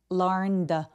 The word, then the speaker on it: learned: 여기 연음할 때 the boy learned 할 때 n 스펠링이 유성음이기 때문에 성대가 울려서 ed는 통째로 드로 발음합니다. 그래서 learned 라고 연결해 주시고요.